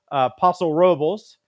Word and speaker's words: Paso Robles: Another one is in the Central Coast, and it's in the way that people pronounce it there is Paso Robles, and beautiful wine country.